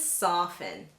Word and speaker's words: soften: to point out that have the silent T. And these words are often and soften.